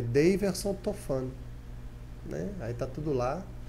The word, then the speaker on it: Tofano: No Instagram é Daverson Tofano, Tofano, né? Porque é diferente a pronúncia, sim, né?